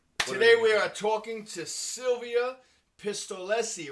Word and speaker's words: Silvia Pistolesi: are the nobodies today we are talking to silvia pistolesi right that's how you pronounce it yes that's right you're good thank